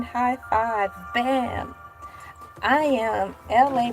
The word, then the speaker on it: Elay: I am LA, pronounced like LA like the city.